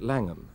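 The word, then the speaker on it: Llangwm: toar Beach or in langum pill the people who live here have always called it langum pronouncing it in the English rather than the Welsh manner Glenn Morgan retired as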